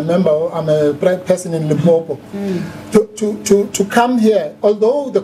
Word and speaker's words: Limpopo: Yeah, it's actually Limpopo, but most people say Limpopo.